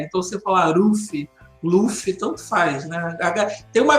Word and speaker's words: Luffy: Porque essa questão do japonês, no som não tem o L, né? Não consegue pronunciar o L. Mas a romanização oficial do nome mesmo é com L. Mas se você for ver o anime no original japonês, eles não pronunciam o L.